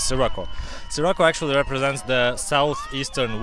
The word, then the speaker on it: Sirocco: It's Sirocco, like with an S, not with the she or C, or it's classic S, Sirocco.